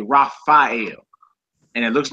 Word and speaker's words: Raphael: you hear the angel Raphael Raphael this is the second letter in his name you know what I'm saying so instead of saying rapel they say rafhael and it looks like